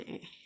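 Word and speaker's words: へ: Nah, ini kan hurufnya he ya. Hurufnya he. Jadi huruf he sama dengan wa. Kalau dia ada di tengah-tengah kalimat, dia dibacanya e.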